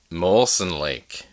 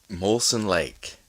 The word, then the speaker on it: Molson Lake: I'll go first with Molen Lake real or fake Molen Lake yeah molsen Lake real or fake spelled like the beer spelled exactly like the beer I have to go